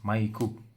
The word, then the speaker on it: Maiku: This is Maiku Sensei, spelled M-Y-K, but in Japanese it's Maiku.